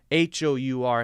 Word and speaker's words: hour: on the sound because the word hour starts with a vowel sound ah ah ah so